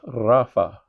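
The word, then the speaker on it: Rapha: Um, Yahweh Rafa. We talked about this a moment ago. R A P H A just like it would be spelled in Rafael in Hebrew or in Spanish.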